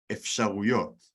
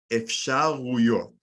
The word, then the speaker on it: אפשרויות: Efsharuyot. Let's break that down because pronunciation can be a little difficult with that one. Listen and repeat. Ruyot. Efshar. Efsharuyot.